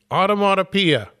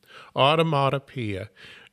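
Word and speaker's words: onomatopoeia: Automatopia. Yeah, I did it. There was a little button there you click and it pronounces it for you. Automatia.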